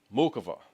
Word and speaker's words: Muchova: Now, Muchova. Yes, we pronounce the C's, guys.